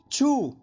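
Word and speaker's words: 去: अब इसका ध्वनि वादन सुनिए, छू छू छू।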